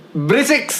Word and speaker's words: Berisik: Kembali lagi di Berisik. K-nya 3. S-nya 3. Dibacanya berisik.